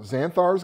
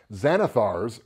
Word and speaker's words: Xanathar: gonna be talking about xanthe ours guide to everything excuse me I mispronounced that and there's a very pissy beholder who will come at me if I don't say it right Zanna thar's guide to everything and